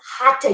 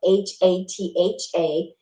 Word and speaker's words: hatha: dedicated practitioner of yoga the next term is hata yoga hata it again is a sanskrit word and it's spelled h-a-t-h-a and that's the main yoga that we did